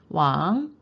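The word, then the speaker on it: 往: 왕, 어디로 향해서 라는 뜻입니다. 성조 체크하시고요. 삼성입니다.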